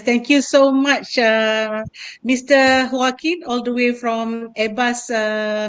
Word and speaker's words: Joaquin: So Joaquin, yes, it's a Okay.